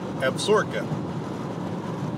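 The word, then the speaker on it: Absaroka: okay that is the absorka range i swear the sign looks like it says i have soroku but everybody tells me it's pronounced absorka must be an indian word of some kind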